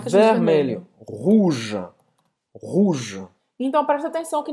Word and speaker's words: rouge: Não pronuncia esse E no final. Você vai terminar nesse J, J aqui do G. Exatamente.